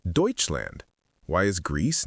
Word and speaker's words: Deutschland: They literally call their country Deutseland.